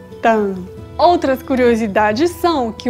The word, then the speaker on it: táan: Veja a diferença na pronúncia de tan e tan.